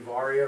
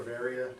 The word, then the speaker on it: Varia: So as the video just described, this is the Garmin Varia, or Varia, depending on how you want to pronounce it.